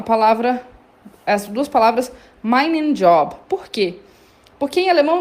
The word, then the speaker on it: Job: M and job, meu emprego. Aqui a gente fala job mesmo, com a pronúncia do inglês, porque essa palavra vem do inglês, né?